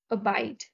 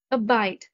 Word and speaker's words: abide: to spice antonyms love abide abide the stress is on the second syllable abide abide means to